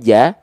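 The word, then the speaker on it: ج: Sekarang huruf jim dibacanya ja wa akhrojati atau wa akhrojoti. Nah, dibaca dengan vokal A.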